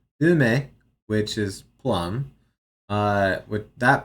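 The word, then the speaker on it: 梅: I like how here it's saying, yes, this is pronounced ume, which is plum.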